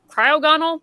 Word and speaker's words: Cryogonal: where it's like the what is it cryo cryogonal that's how you pronounce it but that was a good ticket